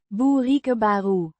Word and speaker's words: bereikbare: Pronounced. Boerikebaru. The Ei. again making a similar sound to the Griekse y. in. Mai. It modifies.